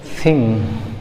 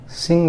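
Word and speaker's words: thing: थिंग, क्या? थिंग, थिंग। ठीक है दोस्तों, वो लोग बोलते हैं थिंग, क्या? थिंग, थिंग, थिंग, थिंग, थिंग। सिंग भी नहीं बोलना है, थिंग, थिंग।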